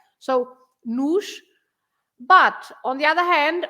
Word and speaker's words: nos: an accent, and so you pronounce the o at the end is always pronounced like u, and in this case is the plural. It takes an s, so you just say another s, nos, the sh at the end of the s.